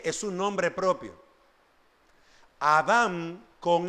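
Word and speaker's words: אָדָם: m sin acento en la palabra hebrea es Adam y voy a hacer el énfasis con mi con mis labios Adam con m no es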